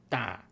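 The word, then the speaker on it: 龘: So it's pronounced da.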